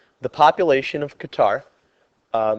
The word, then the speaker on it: Qatar: So if we see here in this word problem, it says the population of Qatar uh maybe pronounced gutter as well according to the world factbook is increasing at a rate of 4.94% every year.